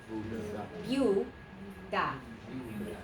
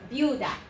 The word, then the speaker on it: viuda: Yeah, you have V-I-U, which is a syllable, and then you have D-A, which is a syllable. Okay, so 2 syllables. What do we have? Viuda. Viuda.